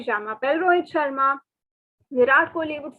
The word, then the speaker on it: je m'appelle: It is not any other pronunciation. Please note it is je m'appelle and your name.